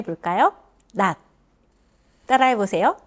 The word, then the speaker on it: 낮: 자, 그럼 다 같이 한번 발음해 볼까요? 낮. 따라해 보세요. 낮.